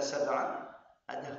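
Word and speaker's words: سَبْعَ: basar hal min futur yaz alladzi khalaqa sabaa sabaa ini huruf e kata saba ada qalqalah saba sabaa samawat kemudian ayah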